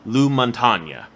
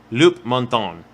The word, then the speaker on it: Loup-Montagne: In this case, it is one called Loup-Montagne. Okay. Not that is more Frenchy when it's spelt out, not some guy named Lou. But anyway, moving on. Do you mean Les Montagnes? L-O-U-P. Oh, so you. Loup-Montagne.